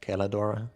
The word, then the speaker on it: Celadora: Clearly, the only one worthy of worship in Bulwar, though, is my gal Celadora Bursartanjuir. I think you'll find that it's pronounced Celadora.